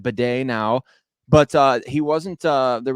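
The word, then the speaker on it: Badie: We found out that he pronounces it Bidet now, but he wasn't.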